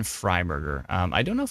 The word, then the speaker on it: Fryberger: let's see here fry yeah it's fry Burger so if you uh search Evan e v an f r y b r g r that is Evan fryberger um I don't know